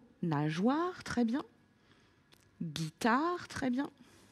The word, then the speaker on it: nageoire: Mais également, il faut qu'on se dise que dans nageoire, après le son J, je vais avoir la lettre O puisque j'entends le son WA. Donc, du coup, pour écrire nageoire, il va être nécessaire d'écrire le G, le E pour faire J et écrire après war. Nageoire.